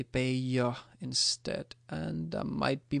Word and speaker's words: Bayer: So, um I would go with baya if you're trying to find what's more most what's uh most uh what do you call it the most correct pronunciation even though personally I always say bear but that's uh it might be wrong.